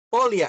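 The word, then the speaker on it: Pólya: Eh, perdón, pero ¿cómo se escribe el método? Poria. Polia.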